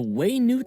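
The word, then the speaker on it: Wenut: Slayer Cannon and repel the wandering waynet the way Newt Slayer Cannon huh yeah that's quite oh that's how you pronounce it the way news Wise It's very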